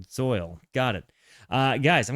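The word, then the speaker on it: Zeuhl: Zu is pronounced soil. Uh, it's like if it were a German word. Zoil.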